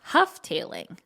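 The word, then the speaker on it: Houghtaling: The family name is pronounced Hufftailing.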